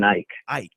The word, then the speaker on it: Eich: last name Brandon I elk how do you pronounce oh that's right yeah Brendan Eich I ok I hit it right the first time